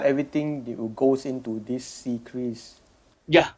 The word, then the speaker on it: CCRIS: Yes, we have this secret Secris. Okay. Secris. How do you spell that?